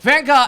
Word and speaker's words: Van Gogh: Yeah, Yeah, I was No, gonna but say, no, Van Gogh is the correct way to say it.